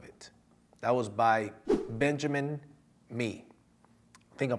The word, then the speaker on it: Mee: That was by Benjamin Mee. I think I'm pronouncing it right, M-E-E.